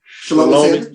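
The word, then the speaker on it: Shelomi: Shalomi. Man, I wanted to make sure I pronounce it.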